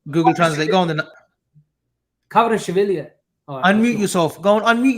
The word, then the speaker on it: Kvaratskhelia: He's checking the pronunciation of. Go on, show Google Translate. Go on then. Kvaratskhelia.